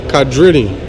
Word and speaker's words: Quadrini: How does that pronounce? Quadrini? Quadrini. Quadrini.